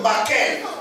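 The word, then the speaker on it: maqqel: J'aimerais au passage souligner que le mot bâton qui est ici, c'est le mot hébreu makel. Makel s'écrit M-A-Q-Q-E-L. Makel.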